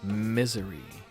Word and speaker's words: Missouri: That song is called Misery. Or Missouri or Misery. They spell it like the state and pronounce it like the affliction.